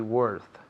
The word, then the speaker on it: worth: Se escribe con una O, pero se pronuncia como si fuera una E. Worth.